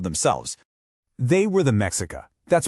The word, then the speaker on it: Mexica: They were the Mexica. That's pronounced mishika.